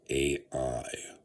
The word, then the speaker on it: Ai: Interestingly enough, in the Old Testament, and it's kind of also mentioned in Deuteronomy, there's a there is uh uh the king of I, okay, which is the king, and it is spelled AI.